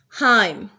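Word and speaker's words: hymn: हाइम, N silent है।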